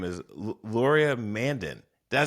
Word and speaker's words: Laurier Mandin: And I'm going to mispronounce his name because I'm so excited just to say his name, is Laurier Mandin.